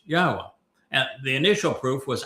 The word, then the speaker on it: Yahweh: able to prove emphatically that Yahweh's name is pronounced Yahwa and the initial proof was actually quite easy but we didn't end it there.